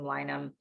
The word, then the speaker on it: Linum: So this is a Linum. Some people pronounce it Linum. I pronounce them Linum Flax.